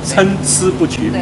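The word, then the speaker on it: 参差不齐: 你的发音很对，参差不齐，没有参差不齐，你乱。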